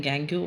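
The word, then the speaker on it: gangue: कुछ लोग इसको प्रोनाउंस करते हैं गैंग्यू और कुछ करते हैं गैंग। The both both are correct.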